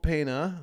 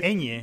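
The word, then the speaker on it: Peña: So it starred Michael Pena, who Pena. Oh, Pena. Well, it has that little thing on the top of the end. It's called the Pena in Spanish. It's Pena. like piñata. Piñata.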